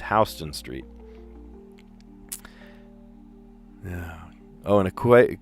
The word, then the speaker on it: Houston Street: You look like an idiot if you say Houston Street. No, it's Hston Street.